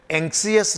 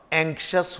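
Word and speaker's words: anxious: एंक्सियस नहीं होगा, एंक्शस होगा।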